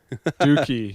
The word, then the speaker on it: Dookie: So it's spelled like cookie, so.